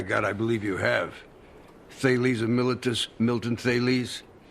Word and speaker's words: Thales: If I pronounce it Thales, does that stir your memory? Should it? Yes. Thales?